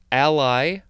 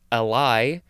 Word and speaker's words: ally: Next we have the word ally, or also ally. Both pronunciations are correct.